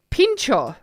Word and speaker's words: pincho: Being pronounced like bean with a P. Oh, pin. Yeah. Bean. And then the chos like chocolate.